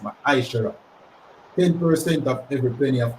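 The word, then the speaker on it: מעשר: Means 10 in the Hebrew, and it's pronounced Ma'aishara.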